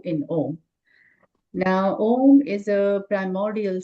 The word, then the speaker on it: om: Otherwise we always say o and then taper into the m part of it.